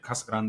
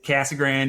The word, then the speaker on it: Casa Grande: named it, Kasag Grande, if you want to say it properly. But Kasagrron works. We thought in Arizona, it's Cassag Grand. It's Cassagrand. Yeah, that's the other way you say it.